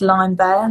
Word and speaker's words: Limebear: First of all, my name is spelled really weird. So it's without an I, and it's Limebear, like the fruit, like the animal.